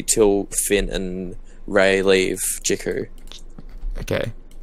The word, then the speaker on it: Jakku: Finn and Rey leave Jakku. Okay. I don't think it's called Jukku, is it? Jakku or something.